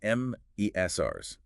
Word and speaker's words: MSRs: MSRS pronounced Mesrs.